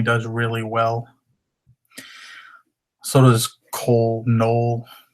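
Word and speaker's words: Knoll: So does Cole Null, however you want to pronounce that. K N O L L.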